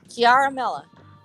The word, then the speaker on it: Ciaramella: How do you spell that, Frederick? It's CIA. It's actually Ciaramella.